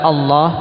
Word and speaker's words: Allah: tafhim tidak bisa ya contoh lam yang mufakham itu adalah pada pengucapan lafzul jalalah makanya ini yang sering keliru Nam apalagi kalangan awamunas Nam untuk lam e untuk lafzul jalalah Allah itu pakai lam bukan pakai ww bukan pakai W Allah jadi perhatikan makhrajnya makhraj